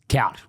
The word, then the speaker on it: Kloud: Which we talk about, Kloud. Yeah. I said it right? Yeah. Dutch. Yeah. Dutch, Kloud. Yeah. I always say I just say to Aussies say like cowed, like loud and cowed.